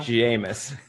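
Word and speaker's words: Jameis: Jamus.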